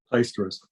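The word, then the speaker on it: Plaisterers' Hall: And it's at the Plasterers or the Plaisterers Hall in central London. There was a big debate going on in the WorkBuzz office around the pronunciation of that today. Neil, do you know? Plaisterers.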